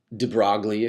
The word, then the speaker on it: de Broglie: by the name of jewy diploid you can pronounce them de Broglie if you really want to but anyways interesting